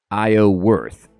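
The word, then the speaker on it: Iorwerth: release oh thank you sir Theodore so it's pronounced IO worth and firewatch is also good this is great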